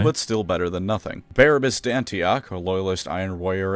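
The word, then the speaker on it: Barabas: still better than nothing barabus dantioch a loyalist iron Warrior and man whose name I keep pronouncing is barbarous on accident sacrificed himself and overloaded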